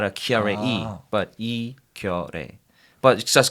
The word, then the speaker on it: Keyarae Yi: My name is Keyarae Yi. I know it's really hard to pronounce. I can, let you know my exactly name is, Keyarae Yi.